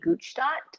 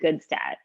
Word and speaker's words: Gutstadt: The actual pronunciation back in Europe would be Gutstadt, but over here in North America, we say Gutstadt.